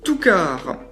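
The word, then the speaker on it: Two Car: Toukar. Alors c'est pas une faute, c'est pas écrit Toukars que je prononce Toukar, non, c'est écrit Toukar, T-W-O espace C-A-R.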